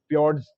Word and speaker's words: fjord: जो देखने को मिलता है, वहाँ पे फोर्ड्स फ्योर्ड्स इसको बोलते हैं। FJORD इसका स्पेलिंग होता है, तो वो देखने को मिलता है स्वीडन में अपने को, ठीक है।